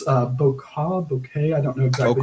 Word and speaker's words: bokeh: and it lets you get that like, it's bokeh. I don't know exactly how to pronounce it. Yeah, bokeh.